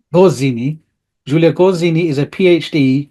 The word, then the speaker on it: Gozzini: So Giulia Gonzini. Gozzini. Gozzini.